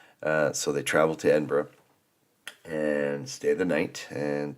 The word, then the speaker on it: Edinburgh: just letting you know it's pronounced Edinburgh it's not Edinburg and uh you know